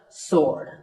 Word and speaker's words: sword: It's just sword. And here's one last word with silent letters.